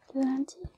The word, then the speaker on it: lundi: So, Monday is lundi. And in this word, the U is pronounced.